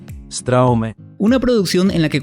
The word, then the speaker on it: Straume: la conocemos por acá porque en realidad se pronuncia Straume.